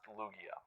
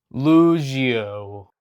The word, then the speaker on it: Lugia: So yeah, it's pronounced Lugia. Lugio.